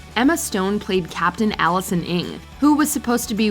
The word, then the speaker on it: Ng: Oh, Captain Ring. It's Ing. Oh. It's like ring, but without the R or the I.